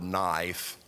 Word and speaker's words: knife: I read a deal that said that uh if you spell the word knife, the K is silent.